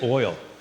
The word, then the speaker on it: oil: How do you say oil? Oil. Earl.